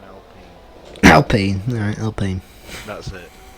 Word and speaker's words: Alpine: No damage luckily, but there was contact there between the McLaren and the Alpine. Or Alpine. The Williams is now up the chuff. It's spelled Alpine, but it's an Alpine.